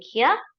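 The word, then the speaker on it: Herr: this hello he Hansen so it's not her hello he Hansen this is so easy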